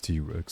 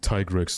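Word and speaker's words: Tigrex: nuked by sephos well the official pronunciation is T-Rex so suck it TIG Rex nerds wow imagine if I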